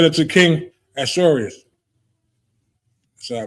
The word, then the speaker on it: Ahasuerus: And Haman, said unto King Ahasuerus. So I pronounce that right?